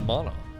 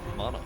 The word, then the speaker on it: MaNa: It comes from a root of that language, so it's definitely actually pronounced MaNa. Here, let's see if Google agrees. MaNa. Yep, Google knows. So if you say MaNa, it's actually wrong. It's actually straight up incorrect.